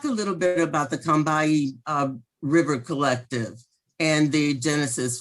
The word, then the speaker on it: Combahee: years come to know is pronounced correctly as Combahee, as if it has two syllables and no O. See, it's pronounced as if it spells C-U-M or K-U-M-B-E-E, Combahee.